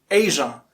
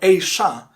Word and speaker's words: Asia: with our own continent it's pronounced in two ways asia with resound of pleasure leisure and vision or a sha with shoe sound of sharp sheep and shock so it's asia not asia asia or